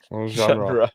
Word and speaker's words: genre: How do you pronounce it? Genre. Genre. With the R.